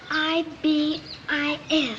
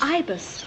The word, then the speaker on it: ibis: he'd be something else I don't know how to say it it's i b i s Ibis yes Ibis tell me something hiy